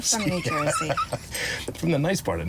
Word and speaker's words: New Jersey: New York pronunciation was nobody says joisy that's a cartoon pronunciation of New Jersey and uh we say no we're not from New Jersy we're from New Jersey from New Jersey from the nice part